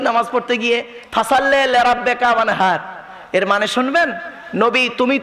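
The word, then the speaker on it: وانحر: ওয়ানহার এ গলার ভেতর থেকে হেটা উচ্চারণ করবেন। ওয়ানহার, ওয়ানহার, হে হে, হে নয় হে।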